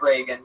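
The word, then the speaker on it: Regan: r e g n not like Ronald Reagan it's announced like Ronald Reagan Pat Reagan but there's no a in that follow him on Twitter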